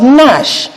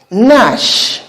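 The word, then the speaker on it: gnash: Then we have Nash. Nash. Nash here begins with a letter G, but the letter G there is silent.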